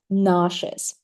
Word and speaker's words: nauseous: Uh, a U. Which sound does it give? A in American and O in British. If I put it above the word like this, right? What about s e? Which sound do they give? My students tell me sh write your and I add this sound as well.